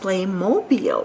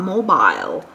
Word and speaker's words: Playmobil: It is pronounced Playmobil and not mobile.